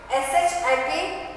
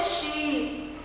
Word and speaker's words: ship: SHIP, ship. SHIP, ship. See the pronunciation? I don't say sheep. I'll say ship. Ship. Because I is here.